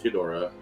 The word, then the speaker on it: Ghidorah: So Legendary is tentatively allowed to use Ghidorah. You have to say it right. You have to say it Japanese.